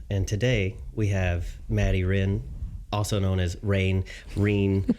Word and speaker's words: Rean: says in there um some people have uh trouble pronouncing my name and and then the guys will go it's Ren and I'm like we